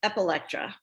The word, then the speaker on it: Epilectra: It's Epilectra.